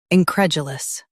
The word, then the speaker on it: incredulous: U.S. Jew. UK. Dew. Don't drop the D in UK.